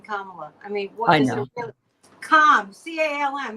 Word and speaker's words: Kamala: find such difficulty pronouncing Kamala I mean what Comm CM you can think of it like Comm yeah well it's it's pronounced the same as Pamela only with a K I know but you